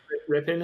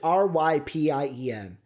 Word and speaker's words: Rypien: Rippin is starting. I swear to God, I don't know how to pronounce his name.